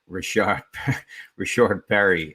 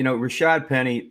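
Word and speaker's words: Rashaad Penny: at the expense of Rashard Perry, and it's no slight. Again, I mean, it's no slight. I just said his name wrong on purpose. Yeah, and that it's kind of funny. Rashad Penny.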